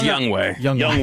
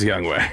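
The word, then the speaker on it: Younghoe: Young Way. It's It's pronounced Young Way.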